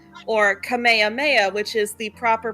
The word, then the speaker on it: Kamehameha: he's using it, it's Kamehameha or Kamehameha, which is the proper pronunciation. And that's how King Kamehameha's name was said in Hawaii.